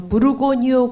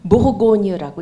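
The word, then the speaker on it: Bourgogne: 그 프랑스 중부에 있는 그 버건디를 프랑스식으로 읽으면은 무르고뉴라고 읽습니다. 그러니까 부르고뉴 그 지방, 그러니까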